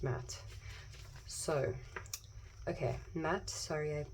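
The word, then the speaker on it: Maat: pronounce her name oh it's pronounced Matt even though it's two A's it's pronounced matte so okay Matt sorry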